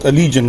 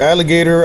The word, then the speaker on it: Allegaeon: I'm pretty sure it's pronounced Alleion, right? Yep, that is correct. I've heard alligator. I've heard Alagen.